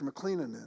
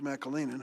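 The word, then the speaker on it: McAleenan: ought to look at when I had mr. McLennan in my Kalinin I mispronounced his name mr. Mackall Aenon who is a career professional DHS I asked him blank check time mr.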